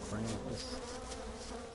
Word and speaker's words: Krampus: Yeah, we're not worried about no Krampus. You need a cramp eye? The cramp eye, bro. I keep thinking Klaus. You're saying Krampus, you're saying it right.